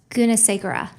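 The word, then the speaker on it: Gunasagara: you say your name is it goodnessa Cara can you pronounce that Guna Sagara thank you um I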